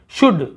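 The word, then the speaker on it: should: शुड, बिल्कुल जैसे कुड है वैसे ही शुड, यहाँ पर भी एल को नहीं पढ़ा, शुड नहीं, शुड यानी चाहिए।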